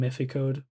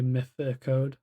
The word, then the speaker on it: Mythicode: Hence the name Mythicode. And that's how you say it, by the way, Mythicode. Not Mythi Code or Mythic. Okay, it's Mythicode.